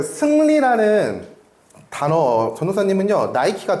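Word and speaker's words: Nike: 브랜드는요 스포츠 의료기업인데 나이키는요 그리스 신화의 승리의 신을 승리의 신인 니케라는 신을요 영어식 발음으로 하면 그게 나이키래요 네 그래서 나이키라는 이름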